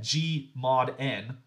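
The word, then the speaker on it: G/N: So if we take the set G mod N, and so that G slash N right there, it's often pronounced G mod N.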